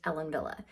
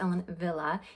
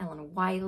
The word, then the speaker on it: Ellen Wille: briefly about the brand Ellen Villa so it is a German brand that's why it's pronounced Ellen Villa even though it's spelled